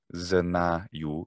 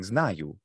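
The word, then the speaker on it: знаю: And which was fascinating to see that, say the word I know, which is spelled znaju, znaju. Well, it has an a, so I think, well, it's a. So I was saying znaju.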